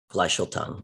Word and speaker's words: Gleichstellung: Gleichstellung.